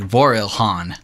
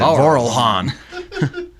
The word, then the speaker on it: Vorilhon: I hope no idea it looks like vorilhon yeah yeah what a true Texan we pronounce it coral Han true so the Raelian